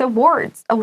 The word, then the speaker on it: awards: 这个还蛮难的这个，那我们就来看一下我们从头开始看。那他就说呢，with awards，我们再请那个 Shane 老师发音一次，因为这个对台湾同学来讲也是比较不好发的字，这个字。